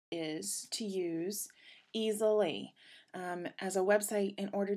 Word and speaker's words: Easel.ly: And Easelly, which is spelled EASEL.LY, is a free site to use.